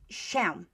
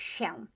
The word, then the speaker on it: się: Okay, you probably have seen the word się, didn't you, in Polish, się. Huh? You can hear that S I, się, is the same sound as this one.